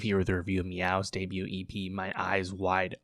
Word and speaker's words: Meovv: That is, of course, Meow, spelled with two V's, My Eyes Wide Open, two V's.